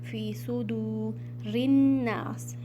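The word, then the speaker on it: فِي صُدُورِ النَّاسِ: फी सुदू रिन्नास। Again यहाँ पर हमज़तुल वसल means silent अलिफ, रा को आपने नून में मिलाना है। फ़ी सुदूरिन्नास, नून मुशद्दद मीन्स यहाँ पर आपने गुन्ना करना है, फ़ी सुदूरिन।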